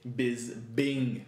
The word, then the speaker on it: Bisping: against michael biss ping is spelled bis ping but not but enunciated biz bing with a b double b instead of dp what's up with that